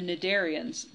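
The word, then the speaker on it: cnidarian: to the next group The naderian the sea is silent um narian means s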